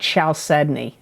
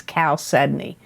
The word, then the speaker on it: chalcedony: that cancer got and you got chalcedony and that's spelled c h a l c e d o n y c h a l c e d o